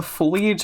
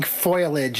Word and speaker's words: foliage: don't uh The Simpsons Mar saying foilage instead of foliage ah yeah I know